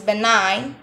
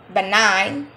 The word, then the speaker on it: benign: the third one is benign benign benign in this lecture the letter g is silent benign benign it will not be